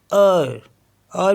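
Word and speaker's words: heure: ई यू आर ई तो यह हो गया अर अर मीस होता है आर जे यू ई जे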